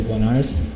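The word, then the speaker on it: Bloniarz: My name is Blenars, and then it's spelled, the last name is spelled B-L-O-N-I-A-R-Z.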